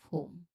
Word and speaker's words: whom: All right, here, pronunciation tip, you say who, plus letter M sound or hmm, who, hmm, who, You link those sounds naturally, you get whom, whom, whom.